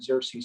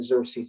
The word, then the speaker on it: Xerces: For those of you who don't know what Xerces Society is, it is pronounced the Xerces Society, and we are named